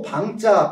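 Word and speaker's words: 彭: 요 방자 팽이라고 읽기도 하는데 방이라고 보면 많이 다릅니다. 방 팽이라고 안 읽고 방이라고 납니다.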